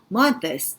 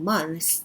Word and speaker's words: months: 그리고 원래 months 이렇게 나와줘야 되지만 발음 너무 어렵다 그러면 그냥 months 해도 이해됩니다. 그렇기 때문에 너무 부담 갖지는 말고요. 안 된다면 months 해도 되고요. 가능하다면 months라고 해주는 거 좋겠죠.